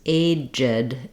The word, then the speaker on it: aged: Versus aged, aged. When I do that, I have a reduced I vowel between my j and my d.